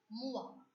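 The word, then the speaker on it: moi: M-O-I, mua. So wherever you find O-I in a word in French, you have to remember quickly that O-I in French has to be pronounced as wa.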